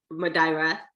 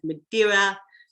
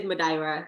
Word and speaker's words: Madeira: some madeira madeira madaira it's actually pronounced madaira i tried to make